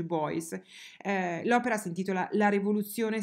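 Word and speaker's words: Beuys: si chiama joseph poi scrive in modo molto difficile boys e per cui ben y s e si legge boys l'opera si intitola la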